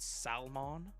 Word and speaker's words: salmon: Rotisserie chicken, pizza, fried fish, grilled salmon, but I pronounce the L in salmon. Grilled salmon.